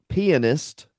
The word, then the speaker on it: pianist: That's pronounced Pianist from 2002.